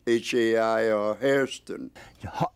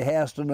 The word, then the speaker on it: Hairston: the family name for themselves the blacks after slavery pronounced it ha I or harston the AI is a Scottish dip thong the Yankee School teachers came down and taught the blacks how to mispronounce their own name so they pronounced it in English and the blacks say haston and the whites say Hon I think so much